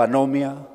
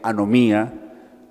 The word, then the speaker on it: anomia: a usar esta palabra se pronuncia o anomia o alguno la pronuncian también anomía y el válida de las dos es decir si la pronuncia anomia o si la pronuncia tildando en el ahí final también es válido anomia bueno me está